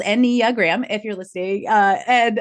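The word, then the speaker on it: Enneagram: out of your mouth so it's four syllables n gram if you're listening uh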